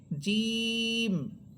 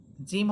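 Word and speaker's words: جيم: দেখেন আলিফ হা দাল র সিন সদ ত আইন মিম লাম কাফ ওয়াও হামসা বা জিম জিম হরফটা বাতাস আটকে রেখে পড়বেন।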